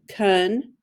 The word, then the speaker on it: continue: you continue okay now the first syllable is tricky pun k uh but it's not a short u it's a short o con put your dot there